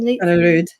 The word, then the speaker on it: Kaneryd: Kaneryd.